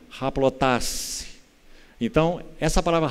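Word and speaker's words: ἁπλότης: palavra, se formos transliterar, ela seria escrita assim, aplotês, aplotês. A pronúncia no grego é haplotasse. Então, essa palavra haplotasse significa ser sem dobra.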